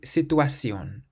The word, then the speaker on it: situación: For example, the word for situation is situación. Situación. And it has an accent over the O on the end, so that's where we place the emphasis.